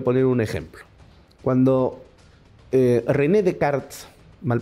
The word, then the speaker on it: Descartes: un ejemplo cuando René decart mal pronunció Descartes se escribe Descartes pero se pronuncia decart porque es francés escribe en su famoso